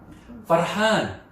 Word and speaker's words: فرحان: 자, 이것은 파르한. 파르한. 파르한. 파르한. 파르한. 그렇죠. 파르한. R 발음이 있습니다. 파르한. 파르한. 파르한. 남자일 경우는 파르한. 여자는 파르하네.